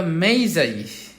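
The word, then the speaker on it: Magi: Number 14, who wrote the poem the gift of দ্য মেইজাই, এটার উচ্চারণ হবে মেইজাই।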